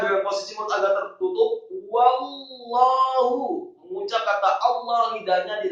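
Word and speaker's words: وَاللَّهُ: Wallahu, kata Allah, haknya tafkhim dan tebal marfu' atau dhamma satu harokat.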